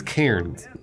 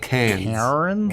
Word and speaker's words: Cairns: are to Lakes entrance wait she means Cairns yeah not cancer I mean I think how she pronounces it is probably how it's pronounced I disagree oh okay fair enough it's got an RN in Australians so